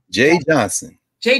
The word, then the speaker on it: Jeh: Jeh, is that pronounced Jay or Ja? Jay Johnson.